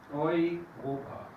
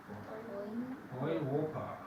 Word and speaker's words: Europa: Es una combinación de letras muy frecuente, EU, y siempre se pronuncia hoy, siempre.